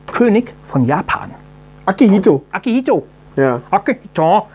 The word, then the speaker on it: Akihito: Und zwar 1989 wurde nach dem Tod seines Vaters Hirohito der Kaiser Akihito König von Japan. Akihito? Akihito. Ja. Akihito. Also ich habe es falsch betont. Du hast es jetzt auf Indisch ausgesprochen.